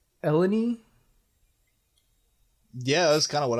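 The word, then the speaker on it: Eleni: about French here but Hera's mother's name ends in an eye but I guess with either the French or the riyo dialect it it makes a long e sound okay and her her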